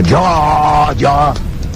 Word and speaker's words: Adjara: Dans la tradition, quand on disait avant, Adiara, il faut même prononcer Adiara.